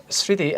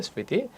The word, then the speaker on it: স্মৃতি: এটা সংস্কৃত শব্দ সবসময় মফলা উচ্চারণ হবে স্মৃতি এখানে দন্তাস আছে স্মৃতি আর যদি দন্তাস রয়ে গেছে স্মৃতি দন্তস রয়ে গেছে স্মৃতিটা হয়ে যাবে কেন হবে কারণটা হলো শুরুতে যদি মফলা থাকে তাহলে উচ্চারণ হবে না যদি শেষে থাকে তাহলে